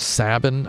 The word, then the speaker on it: Sabin: whenever it suited them how do I pronounce saben I pronounce it like cabin yeah it was weird